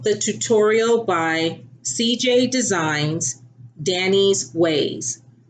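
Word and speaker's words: Danii's: I followed the tutorial by CJ Designs, Danny's Ways. And Danny's is spelled DANII''S.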